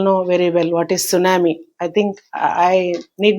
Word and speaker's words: tsunami: We all know very well what is tsunami. I think I need not explain it but you can observe the spelling also. T is there in spelling but we don't pronounce it.